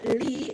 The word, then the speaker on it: Lee: But my book recommendation is The Evening Hero by Marie Myung-Ok, or Lee, if you're going to pronounce it the Americanized way.